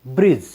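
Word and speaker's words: bridge: पहले आए तो हम डी का उच्चारण नहीं करते हैं जैसे बी आर आई डी जी ई ब्रिज ब्रिज भी होता है पुल साथियों यहां पर डी जी के पहले आया है इसलिए हमने डी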